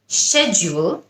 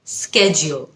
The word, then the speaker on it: schedule: আরেকটা শব্দ যেটার উচ্চারণ নিয়ে আমরা অনেক সময় অনেক কনফিউজ থাকি, schedule নাকি schedule, দুটোই কারেক্ট। schedule হলো ব্রিটিশ, schedule হলো আমেরিকান।